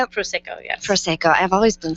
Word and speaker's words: Prosecco: Prosecco, yes.